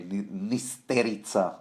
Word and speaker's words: Nysterica: Some septa named Nysterica, which I think I would rather pronounce, the Slavonic way, Nysterica.